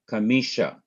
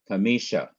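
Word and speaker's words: חמישה: illustration and it is the word Kamisha Kamisha Kamisha which means five well let us find the last syllable the last syllable is sha that's it Shin K he that's the last syllable so what is the first syllable away from the last syllable it is me me K short K me and what is the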